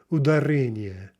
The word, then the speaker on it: ударение: So anyway, ударение, ударение. That's the correct stress.